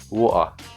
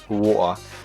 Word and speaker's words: water: not a long pause it's water water water that's and this pronunciation is an extremely lazy pronunciation of the word water but people do get lazy